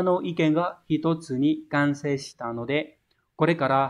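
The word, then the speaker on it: 完成: Đọc là kanse. Kanse này có nghĩa là hoàn thành, hoàn tất một cái quá trình nào đó. Minna no iken ga hitotsu ni kansei shita no de kore kara hapyou shimasu.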